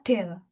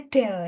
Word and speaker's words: del: Cara membacanya adalah del. Jadi notasi seperti ini itu membacanya del ya.